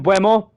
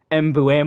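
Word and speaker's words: Mbeumo: But anyways, we will bring in Buemo, who apparently, I am pronouncing this incorrectly. It's like Mbuemo or something.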